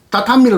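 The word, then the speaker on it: 畳: 정확한 발음은 다타미를 우리말로 하면 외도짜리입니다.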